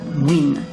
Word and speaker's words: Nguyen: À travers le monde, beaucoup de descendants de Vietnamiens portent le nom de la dernière dynastie féodale, les Nguyen, qui se prononcent ici Nguyen.